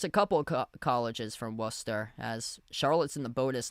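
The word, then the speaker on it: Worcester: Um so, that's pronounced as Wooster.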